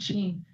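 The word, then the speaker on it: Shein: Sheen. Sh e i n. Sheen.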